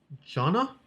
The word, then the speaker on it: Jana: Ines and Jana.